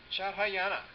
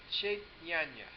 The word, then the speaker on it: Chaitanya: Shadhayana. Is that you? Did I say it right? No? Say it for me. Shadhayana? Shadhayana? Chaitanya.